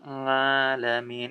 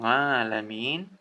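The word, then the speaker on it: العالمين: ngalamin ya kayak Hirobbil Alamin itu lagi-lagi keliru ya bukan ngalamin akan tetapi alamin Alhamdulillahirobbil alamin itu Kyuhyun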